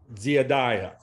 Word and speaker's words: dziedāja: There is a y sound in Latvian, the J, but other diphthongs, each vowel is pronounced distinctly. Dia, dziedāja.